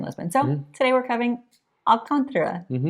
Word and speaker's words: Alcântara: Okay, so today's video we are covering the neighborhood of Alantra. I think that's how you say it. Alcantara.